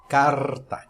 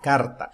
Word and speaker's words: carta: Em espanhol, o R é sempre vibrante, por isso que o latino, o hispano, tem dificuldade no aprendizado do inglês, porque o R espanhol é muito mais forte, muito mais marcante do que o R do português.